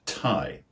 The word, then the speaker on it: tie: next example is the word tie TI i e for example to tie your shoelaces or the idiom to tie the knot as in to get married this has the exact same pronunciation as the word Tha t h AI which